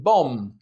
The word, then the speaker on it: bomb: The B in bomb, climb, and lamb.